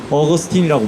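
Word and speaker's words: Augustine: 기독교 신학자들 중에 어 지금으로부터 한 1500년 전에 살았던 어그스틴이라고 하는 아오구스티누스인데 어 우리는 이제 미국을 좋아하니까 미국식 발음으로 어거스틴이라고 불러요.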